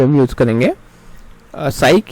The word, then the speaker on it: psych: ठीक है, नेक्स्ट है अब हमारा यहाँ पे जो रूट वर्ड हुआ है साइकी, साइक और साइको, साइक और साइको। कई बार आपको PSYCH जिसको हम साइक प्रोनाउंस करेंगे, या फिर PSYCHO साइको, जो डिनोट करता है माइंड से रिलेटेड टर्म्स को।